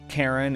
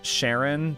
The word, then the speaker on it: Charon: me at first because I've always pronounced it as Sharon, just out of, you know, habit, I guess. When I was a kid, I saw it and I pronounced it as Sharon when I was reading it. And so that's just what it is in my head. But yeah, pronounced Charon, I guess.